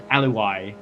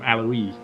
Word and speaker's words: Alawi: I was listening to his own stream and he got annoyed at me for calling him Alawi because he said it rhymed with alibi. So I'm going to call him Alawi.